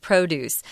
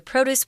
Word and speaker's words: produce: of water provide the produce with an ideal environment which is kind of interesting notice here guys I'm pronouncing this word PR OD UC produce not produce we're using it as a noun here produce just means